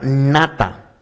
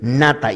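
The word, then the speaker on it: נטע: en hebreo escuche esto la palabra plantar en hebreo es la palabra nada así como se escuche y así como se escribe nada y eso significa golpear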